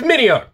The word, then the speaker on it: Mineo: up i messed up i'mma i apologize it's mineo it's minio did i pronounce that right andy uh i don't know